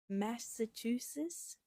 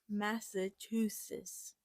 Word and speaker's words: Massachusetts: Massachusetts. Still wrong, but Massachusetts. No, it's not right. Massachusetts. That's okay. I said it wrong that time. Massachusetts. I'm just gonna. Yeah, that's the right way to say it.